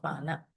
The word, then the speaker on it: pana: So that's the meaning of pana. P-A with the N dot, right? Pana. So literally, if you want to more correct in pronunciation, you need to roll your tongue with the N. Pana.